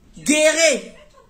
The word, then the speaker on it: guérir: Là, seulement, faut savoir prononcer. Guérir. Oui, faut dire guérir, c'est ça.